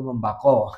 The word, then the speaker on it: membakar: Tapi untuk pronunciation yang benar dalam bahasa Melayu penggunaan api ya, itu membako.